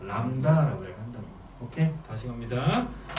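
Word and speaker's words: λ: 람다라고 한다고. 오케이? 즉 정리합니다. 이야기하는 건 거리라는 건 바로 뭐라고 이야기하고 시작? 람다라고 얘기하는 거고 얘는 마치 한자처럼 어떻게? 들립을 쓴다. 들립이라고 읽지 말고. 알았어? 람다.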